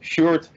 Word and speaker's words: Sjoerd: My name is Sjoerd, which is pronounced as a short with two O's, Sjoerd, so that would do it.